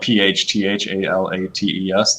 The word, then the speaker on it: phthalates: But phthalates are literally just as problematic as BPA, and that's spelled PHTHALATES, phthalates.